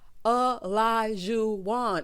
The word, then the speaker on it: Olajuwon: Girl, Olajuwon. It is 4 syllables.